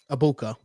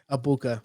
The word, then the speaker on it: Ebuka: How do you pronounce his name? I know him, the receiver, Abuka. right? Abuka. Okay. Yeah, Abuka.